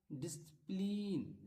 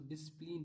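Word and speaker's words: discipline: डिसिप्लिन इसको डिसिप्लिन पढ़ते हैं। याद देखिए सी यहां भी डिसिप्लिन। क्योंकि इससे एस से भी स होता है और सी से भी स होता है।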